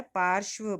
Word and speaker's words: पार्श्व: बेटा पार्श्व की स्पेलिंग गलत है, श आधा है, पार्श्व बोलेंगे इसको। तो बिंब माने वस्तु होती